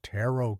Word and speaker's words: tarot: He bought some of those tarot cards. She pronounced it like carrot. Amateurs.